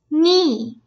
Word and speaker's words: knee: باللفظ kidney kind kid knee. اي كلمة فيها حرف صامت؟ knee. لما بيجي عنا k n باول الكلمة فحرف ال k بيكون صامت.